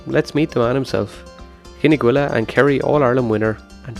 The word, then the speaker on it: Gneeveguilla: It's a hard one to pronounce. It's Gneeveguilla.